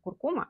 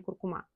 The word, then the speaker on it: куркума: и других ингредиентов кстати правильно говорить именно куркума А не куркума то есть яйца получается